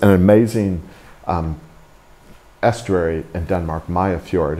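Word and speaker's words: Mariager Fjord: Mayafjord is how they pronounce that word. You just drop all the consonants.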